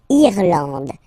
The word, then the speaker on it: Irlande: Irlande. Irlande. Okay, A-N, D, and final E, not pronounced.